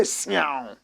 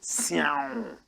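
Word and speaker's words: Siaw: Nigeria, say Siao. Like a cat who is about to eat meat. Siao. Like meow.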